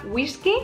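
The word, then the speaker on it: güisqui: Es una adaptación de la palabra inglesa whisky, pero con la pronunciación y con la grafía española.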